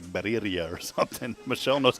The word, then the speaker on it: birria: That's the word I can't pronounce that Michelle can say. How do you say it? Birria.